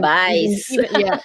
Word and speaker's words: bouillabaisse: then the next one, that one Bouillabaisse, yeah. Well, bouillabaisse. Bouillabaisse, bouillabaisse, I think. Bouillabaisse. bouillabaisse. Even I don't say those words because we don't make that.